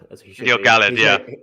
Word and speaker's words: Gil-galad: I would love to know what Uh, the feeling I have about Gil-galad, or Gil-galad as he should be, Gil-galad. Yeah, his right, name right. should be pronounced.